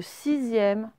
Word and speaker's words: sixième: Le X, il se prononce Z. Pareil pour le sixième.